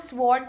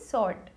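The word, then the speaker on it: sword: ऐसी सॉर्ट, इसको लोग स्वॉर्ड बोलते हैं, this is wrong, right one इज सॉर्ट, okay guys.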